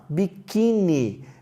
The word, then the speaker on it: biquíni: Olha a outra palavra, biquíni. Biquíni é uma paroxítona. E aí nós temos o acento no i.